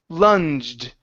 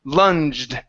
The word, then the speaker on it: lunged: This word here is pronounced lunged. Instead of lung with a G, normal G, we're going to use a J. Lunged.